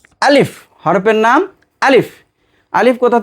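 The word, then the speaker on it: ألف: 2 ঠোঁট খোলা রেখে হালকা বাতাস বের হবে এবং দ্রুত উচ্চারণ হবে।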